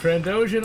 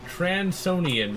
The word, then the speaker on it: Trandoshan: I used to actually pronounce them in a very weird way, though. Instead of Trandoshan, I pronounced it Transonian for some reason.